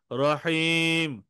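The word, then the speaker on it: رَحِيم: র হা ইয়া মিম হ্যা রতে জবর রহিম রহিম রহিম তিনবার বলেন রহিম রহিম রহিম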